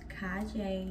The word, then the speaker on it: Kaije: in my mirror first my name is kai jay pronounced kai jay nothing else and my name on